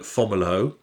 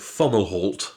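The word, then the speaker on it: Fomalhaut: star i call it fomolo but you call it funnel halt i do call it funnel hort because that's probably right i don't believe the t is silent so but there we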